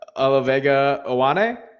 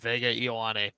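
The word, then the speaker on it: Olaivavega Ioane: I can never pronounce his name. Olavega Ioane. Wow, that's way better than I have ever done it. I've always just pronounced it Vega Ioane.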